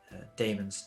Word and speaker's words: daemons: Pronounced demons, but most people, it's written differently. Daemons, Daemons.